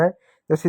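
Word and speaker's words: hose: यह हाउस नहीं, हाउस का spelling H ओ यू एस ई होता है, वहाँ पर यू भी होता है, यहाँ पर देखो यू नहीं है, होज होगा।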